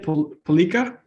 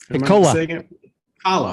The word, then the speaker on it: Piccola: Palika? Piccola. Piccola. Okay, there we go. Piccola, like Ricola.